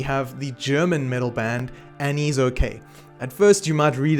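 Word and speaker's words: Annisokay: Next up, we have the German metal band Anise Okay. At first you might read it as Ana Kay or something like that, but it is kind of pronounced like Annie is okay.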